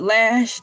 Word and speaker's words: ELAY: I'm your girl LA. Pronounced like LA, like the city on the fender, but I'm breezy.